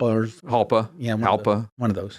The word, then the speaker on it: Jalpa: no I forget that jalpa or halpa yeah halpa one of those halpa jpa one of the small ones jpa but the Jay is silent I know even though it's Italian not Spanish but I get I get